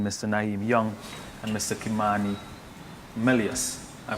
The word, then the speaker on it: Kimani: Kimani Melius. I pronounced it right? Kimani.